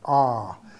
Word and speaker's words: awe: We're overwhelmed by a certain stillness or an awe, A-W-E, an R, as it's pronounced in American English.